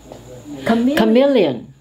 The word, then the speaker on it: chameleon: this could be a brand of an automobile chameleon this is like a kissing cousin of blizzards